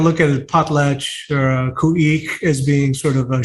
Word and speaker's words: Khu.éex’: The proper pronunciation of the name is Khueex. Khueex.